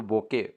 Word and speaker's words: bouquet: इफ you have roses growing in your garden you can make a lovely, तो बोके, बोके कैसे बनाएंगे, इसकी spelling होता है BOUQUET, बोके, तो आंसर आ जाएगा सी डी।